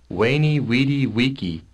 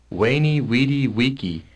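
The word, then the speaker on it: Veni, vidi, vici: so to speak, that Weni Weedy Wiki. that Julius Caesar said, you notice that all the V's are pronounced, when the guy reads it, they're not pronounced as V's. Weni Weedy Wiki.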